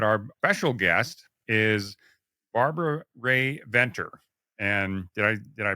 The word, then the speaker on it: Rae-Venter: But our special guest is Barbara Rae-Venter. And did I pronounce that right, Barbara?